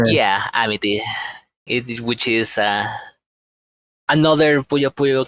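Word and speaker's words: Amitie: Amiti, which is another Puyo Puyo character that was the main.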